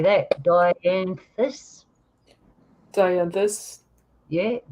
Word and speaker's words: Dianthus: Dianthus.